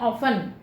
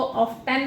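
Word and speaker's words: often: यूज़ कर सकते हैं ऑफन। इसको ऑफ्टन नहीं बोलेंगे, इसमें टी साइलेंट है, ऑफन।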